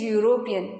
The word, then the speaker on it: European: Here also E is vowel letter but the pronunciation is European, ya, that is consonant sound.